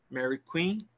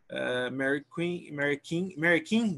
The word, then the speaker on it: Mary Queen: Mary King, the pronunciation is Mary King. Sorry, the mistake with pronunciation. Queen. Sorry? Queen, Mary Queen.